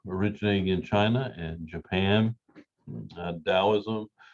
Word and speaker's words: Taoism: in china and japan taoism notice the t is pronounced with the d that's because of the